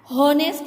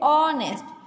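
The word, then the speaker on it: honest: क्यों लगाया है, क्योंकि देखो ऑनेस्ट हम एच बोलते नहीं है, एच का ह होता है ना, हॉनेस्ट नहीं कहते, हम कहते हैं ऑनेस्ट।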